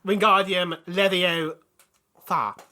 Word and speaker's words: Wingardium Leviosa: It's pronounced Wingardium Leviosa.